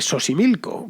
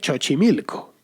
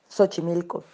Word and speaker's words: Xochimilco: de los canales de xochimilco pero dije xochimilco pronunciando la equis como la che y no como la s que es como se pronuncia bien es normal estas equivocaciones